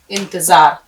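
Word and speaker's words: انتظار: plus अलिफ plus रे इंतजार अब देखिए कैसे अलिफ नून ते फिर जोय का शोष फिर अलिफ आपने अलिफ नून जर इन ते जबर ता जो अलिफ जबर जा रे साकिन इंतजार इसको आपको बारबार करके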